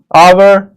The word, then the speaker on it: hour: It will be noticed that the words hour, honest, air begin with a vowel sound as the initial consonant H is not pronounced.